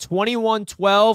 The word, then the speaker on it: 2112: Richie, it's pronounced 2112 like the Rush album.